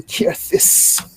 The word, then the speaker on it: Kyrthyss: I am Kirthis." Kirthis. I'm gonna write that down. Or you can spell that out and I'll copy it.